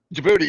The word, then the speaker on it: Djibouti: Djibouti, yeah, it's spelled with a D, but I think it's silent.